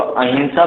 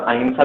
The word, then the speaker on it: अहिंसा: इसको अहिंसा भी पढ़ा जाता है और अहिंसा भी पढ़ा जाता है। प्रोनाउंसिएशन ना का जो बिंदी का है वो ना और माँ दोनों आते हैं।